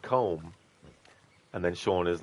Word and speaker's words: Colm: likes to be called Colm and then Shan is like you know I can't remember the exact quotes but just paraphrasing Shan is like his name is Colum that's how you pronounce it and um Kieran is